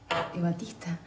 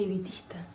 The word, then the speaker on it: evitista: ¿Ebatista? No se dice ebatista. Se dice ebitista. No, ebatista de Eva. Ebatista. Sí, pero Eva era Evita, por eso se dice Evita.